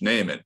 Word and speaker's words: Neiman: what's your name neiman sir it's pronounced naaman what year are you